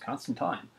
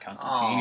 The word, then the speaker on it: Constantine: by Alan Moore, who said it's pronounced Constantine, not Constantine, even though I've called him.